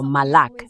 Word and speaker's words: Malak: Me gusta que mi nombre se pronuncie como Malak, no como Malak.